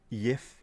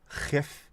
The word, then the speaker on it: Jif: Sif, of course, had to be changed from Jif because the word Jif is not pronounced Jif all over Europe, is it? It'll be Jif, Yif, Chif, Shif.